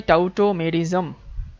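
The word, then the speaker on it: tautomerism: এম ই আর আই এস এম টোটোমেরিসম এটাকে উচ্চারণ করলে হয় টাউটোমেজম টাউটো টো সো টটটোমেরিজমের ক্ষেত্রে আমরা যে জিনিসগুলো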